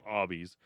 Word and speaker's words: Arby's: Instead, they chose the name Arby's. Just arbitrarily. No. Arbitrarily? No. Arbitrarily? A phonetic pronunciation of the letters R and B, short for Raffle Brothers, who were the owners.